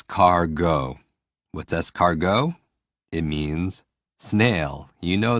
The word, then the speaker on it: escargot: more s cargo what's escargot it means snail you know that for me i hear scar and i hear go or i hear s car go and it's always about